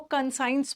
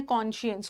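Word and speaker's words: conscious: कॉन्शियस का मतलब होता है, काइंडली इसको कंसाइंस मत पढ़िएगा, इसका प्रोनाउंसिएशन है कॉन्शियस।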